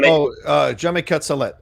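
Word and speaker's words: Jaume Collet-Serra: Now, the director, is it pronounced Hame? Is that how you pronounce it, John? Jomi Colette.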